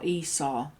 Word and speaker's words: Esau: Esav, as is, or Esau. He's got different names depending on how you pronounce the vav.